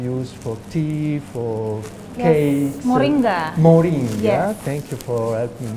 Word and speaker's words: Moringa: mention uh something that probably I Mis pron pronounce uh Maringa it's a flower it's a plant in an yes uh somebody introduced me to this flower which you can use for tea for cakes Moringa Moringa thank you for helping me H and